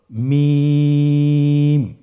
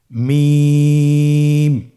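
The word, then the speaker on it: ميم: থেকে হরফটি উচ্চারিত হয় দুই ঠোট চেপে ধরে আমরা উচ্চারণ করব মিম আবার বলুন মিম আলহামদুলিল্লাহ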